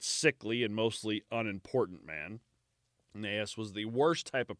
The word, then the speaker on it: Gnaeus: Yeah, it starts with a G, but I'm guessing I believe the G is silent.